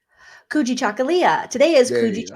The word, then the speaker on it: Kujichagulia: Today is, I can't pronounce it. Can you say it again? Kuji Chakalia. Kujichagulia.